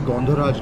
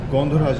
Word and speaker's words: Gondharaj: lime peel from an Indian lime known as Gondharaj lime. Gondharaj lime. Gondharaj lime. Okay. Bang on in the pronunciation.